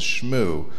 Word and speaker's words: ShmooCon: can't attend the next Smoot conference. We have a very large conference coming up in January in Washington, D.C., Smoot conference. We usually use the French pronunciation of that as well, which is Shmoo.